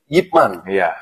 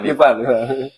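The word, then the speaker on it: Ip Man: lagi Pamungkas Pamungkas yaitu yipman kita bacanya yipman ya atau mungkin orang yang orang tahu tuh Ipan ippman Ipman jadi dia tuh memang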